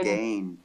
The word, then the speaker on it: Skagen: Because it's spelled Skagen, but you say it's Skagen. Skane. Skane, that's it.